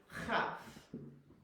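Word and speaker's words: כ: So with no dagesh, the phlegm is free to fly. There's nothing blocking up your mouth. So this is chaf, and it does have this CH sound.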